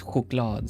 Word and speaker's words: choklad: Like a chocolate in Swedish is choklad, so you have the h sound already. Choklad, ch can be pronounced h. It can also be sh.